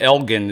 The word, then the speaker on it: Elgin: House here in the Austin area, out in Elgin. Am I saying it right? Elgin, I'm yes.